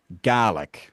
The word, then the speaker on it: Gaelic: In Scotland, that word is pronounced GI because it's referring to the language of GR, the language that was spoken in Scotland and is spoken in Scotland, which is GI.